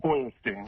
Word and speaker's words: Feuerstein: Feuerstein. How do you say it? I like the way Howard said it, but it is Feuerstein.